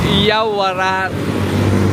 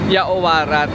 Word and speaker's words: Yaowarat: Ito yung yawarat. Akala ko ang pronunciation yaowarat. Yawarat pala.